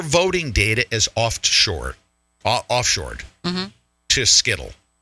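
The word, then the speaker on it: Scytl: data, is offshored to Skittle. It's pronounced Seitel, but I'm going to call him Skittle.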